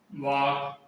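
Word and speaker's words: walk: के से पहले एल हो तो सामान्यतः एल साइलेंट रहता है। ठीक है, जैसे कि टाक, वाक, टाक वाक, सब एक टाक मान बात करना, वाक मान टहलना है, चलना।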